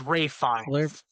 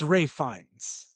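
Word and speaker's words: Ralph Fiennes: It's it's it's Ray Fines. Yeah. It's weird cuz his name is spelled Ralph but it's pronounced Ray. I don't know. It's weird. But it's Ray Fines.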